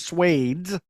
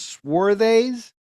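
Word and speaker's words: Swades: how you pronounce it I thought it was suedes but it's swes um and I understand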